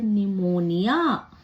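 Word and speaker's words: pneumonia: रहा है वैसे ही पी के बाद अगर एन हो तो भी पी साइलेंट हो जाता है हमें पी की ध्वनि नहीं सुनाई देती है हमें एन की सुनाई देती जैसे निमोनिया तीसरा एग्जांपल है अगर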